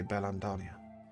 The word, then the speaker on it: Beldania: lands of berlin daniel and yes that was not a mistake they'll say bellam dania ah i will spell